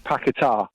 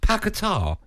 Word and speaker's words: Paquetá: his shirt it's got the little tick upwards on the a which says the emphasis is on the a so it's not only